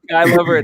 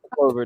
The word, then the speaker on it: Sky Lover: name is Sky Lover, not Clover.